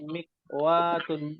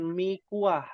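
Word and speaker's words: مكواة: Hadihi mikwatun, bukan mikuah, bukan mikuah. Ya, ada mie goreng, ada mie kuah, bukan. Mikwatun. Cara bacanya mohon dibenarkan nih, mikwatun.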